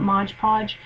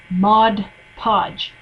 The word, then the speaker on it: Mod Podge: I was talking about modge podge and my wonderful friend rain Phoenix corrected me and said it's not Mod Podge it's Mod Podge so my apologies to